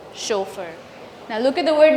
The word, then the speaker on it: chauffeur: Chauffeur. The A in U in French sounds as O. Chauffeur.